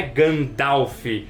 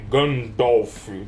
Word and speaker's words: Gandalf: jeito certo de falar não é Gandalf É gandolf gandolf é quase com um o assim então e aí